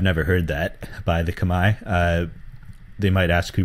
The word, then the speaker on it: Khmer: to that era a pinit Orchestra is the Kamai equivalent oh by the way it's Kamai spelled khm e r but pronounced Kamai it's the Kamai equivalent of the Thai pin